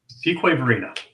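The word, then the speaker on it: Fuquay-Varina: and let's see Matthew price says he's in fukari Verina fqu Verina there you go yeah it's not pronounced like it's like it looks like right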